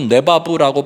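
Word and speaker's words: לבב: 마음을 다하여 뜻을 다하여 힘을 다하여 마음은 히브리어로 네바부라고 발음하는데 여러분 잠언서 4장 23절에 보면 지킬 만한 그 어떤 것보다도 내 마음을 지키라 할 때 마음이 내바부 생명이 거기서 난다라고 얘기해요.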